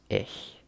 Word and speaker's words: ich: I so to say I in German is ish it's about IC H I brownish sometimes but it's actually pronounced according to my teacher how you say